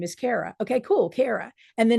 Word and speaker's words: Cara: Say my name is Cara, pronounced Cara.